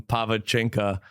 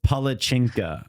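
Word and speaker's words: palačinka: both just ate some pava chinka together oh no no that's not it I remember is that how you say it it's palachinka palachinka okay I was close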